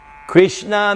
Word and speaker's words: Krishna: Krishna means it's 2 syllables. Krishna significa son 2 sílabas.